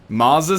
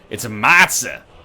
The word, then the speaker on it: matza: Maza sticks? Yeah, I forgot about that. The way Nick says it is so good. Maza. Maza faza. No, it's a matza. Give me some matza sticks.